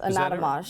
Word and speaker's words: Anatomage: says um okay HOSA tell me how to pronounce this ananat anat it says you're on the team for anatomage yes anatomage okay all right so what is that so